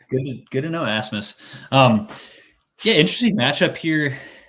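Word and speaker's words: Rasmus: little more he's like as Miss holand it's like oh the r is silent I never never really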